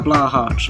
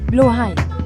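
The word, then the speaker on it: Blåhaj: I came to this IKEA to get a Blahaj. Like, I know it's pronounced Blahaj, but like, you're talking to an English person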